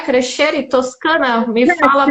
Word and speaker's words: Crescere: Crescere Toscana? Me fala a pronúncia.